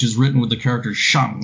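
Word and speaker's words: 上: written with the character shang like on top of shang or on but in middle for the middle chinese tone name it's pronounced with the third tone so so shang is the origin of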